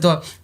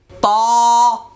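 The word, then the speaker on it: ت: এখন বলবেন উস্তাদ যে আপনি তো এখন যেভাবে আওয়াজ করতেছেন তিলাওয়াতে তো এইভাবে পড়বো না।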